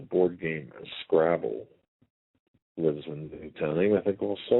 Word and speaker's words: Newtown: San Francisco with a secondary place out of Newton, Connecticut. It's only a town of 2,000 people. We have to keep... Newtown, sorry.